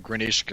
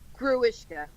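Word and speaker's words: Grewishka: She's specifically referencing Grinishka, or however you pronounce that guy's. Jackie Earl Haley. It's Gruishka.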